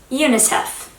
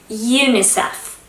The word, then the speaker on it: UNICEF: that can be pronounced individually as new words phonetically. Keep that in mind. And another of them is UNICEF. UNICEF.